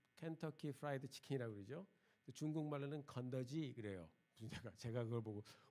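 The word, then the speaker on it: 肯德基: 중국말로는 건더지 그래요. 제가 그걸 보고 뭐 건더기 먹으러 갔나. 근데 중국 발음이 그래요.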